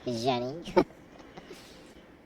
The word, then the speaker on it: Zgennyy: Yeah, so the person streaming this game right now currently is Jenny, Zgennyy. Pronounced like Zsa Zsa Gabor would, right? Yep. Jenny.